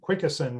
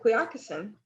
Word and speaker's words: Quioccasin: I asked Chickahominy Assistant Chief Wayne Atkins how to pronounce Quickasin, and he said it was pronounced like moccasin. So Quickasin would be the way they were pronouncing it. I guess, comment? I mean, I pronounce it Quioccasin, so it sounds like moccasin to me.